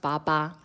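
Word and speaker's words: 八八: But in Taiwan, Father's Day is celebrated on the 8th of the 8th because it's pronounced Baba. So they basically have Father's Day on the homophone of father's father.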